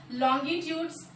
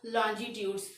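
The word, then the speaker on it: longitudes: और पैरेलल्स क्या है, लॉन्गिट्यूड्स, और कोई बहुत सारे लोग इसको लॉन्गिट्यूड्स प्रोनाउंस करते हैं और बहुत सारे लोग लॉन्जिट्यूड्स। तो दोनों जो प्रोनाउंसिएशन होता है वह सही होता है।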